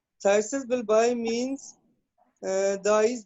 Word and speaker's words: phthisis: Thysis Prognosis is bulbi, good. ठीक है? P is silent. Thysis bulbi means the eye